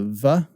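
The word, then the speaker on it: ו: You have two schools of thought, modern Hebrew, and a lot of us who learned classical Hebrew pronounce it as a Vav. The arguably more technically correct way would be to pronounce this as a wow is how you'd say it.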